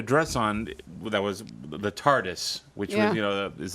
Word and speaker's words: TARDIS: No, I know because no, he had a dress on that was the TARDIS, which was, you know, is that how you say it? The TARDIS, Yeah, the TARDIS, the police box, you know.